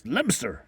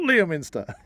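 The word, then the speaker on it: Leicester: annoying people by saying it's lster it's lster not Liam iner yeah my apologies if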